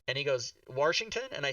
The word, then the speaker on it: Washington: and I was like, "Mike, why do you pronounce the name of the state we live in with an R in it?" And he goes, "Washington?"